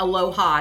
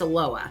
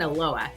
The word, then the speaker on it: Aloha: We pronounce, it's not Aloha, it's Aloha. Like we say here in Portland, Aloha.